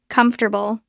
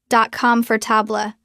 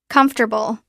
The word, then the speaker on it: comfortable: Third sound bl together comfortable. comfortable. Notice the stress is on the first syllable.